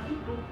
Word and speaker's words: Quito: de Quito o desde quito entonces eh siempre me corregían no no se dice quitu se dice quito y le digo o sea es el nombre quichua quitu porque nosotros al menos